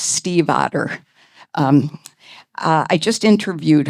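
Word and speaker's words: Stiefvater: author's last name correctly, but it is pronounced Steve Otter.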